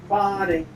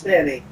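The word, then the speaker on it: Fani: know about fonny Willis is any fonnie pronounced fonnie f a n i that's Fanny and she likes it fonnie when she became the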